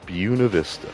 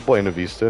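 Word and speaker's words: Buena Vista: I'm from Buuna Vista BV. People might call it Buenov Vista and I would say that's wrong. I mean it is Spanish but we don't pronounce it Spanish up there.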